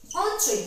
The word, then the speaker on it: entrées: But this ES need not to pronounce, need not to give any sound to this ES, it will be silent.